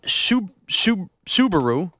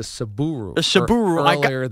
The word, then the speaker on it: Subaru: pulling away this uh Subaru you called it a Suburu it's a tough word for me to say you told me this